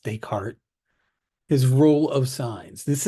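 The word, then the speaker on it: Descartes: okay let's talk about decart that's how that's pronounced decart his rule of signs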